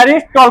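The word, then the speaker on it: Aristotle: एरिस्टोल कहते हैं। क्या कहते हैं? एरिस्टोल। यहां पे क्या साइलेंट है? टी साइलेंट है।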